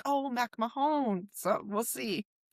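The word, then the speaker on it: MacMahon: And he said, "I'm fine with McMahon. I've been called McMahon forever, and now I'm at the stadium, but my name technically is Mac Mahon."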